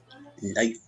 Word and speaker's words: knife: So here, which ones are silent? Which are the silent letters? The first one is L. L. Number 2, E. E. Number 3, L. L again. L again. Number 4, K. Number 5, E. Number 6, G8. GH. GH. Might. They are never pronounced. They are always silent.